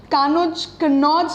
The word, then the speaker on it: कन्नौज: कन्नौज वैसे राइट इसका प्रोनाउंसिएशन होता है।